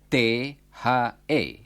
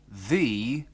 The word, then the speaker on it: the: dipakai dalam bahasa Inggris ejaannya ialah t h e tetapi diucapkan the O the kata itu